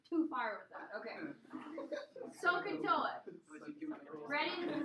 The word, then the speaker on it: SOHCAHTOA: The acronym is pronounced SOHCAHTOA.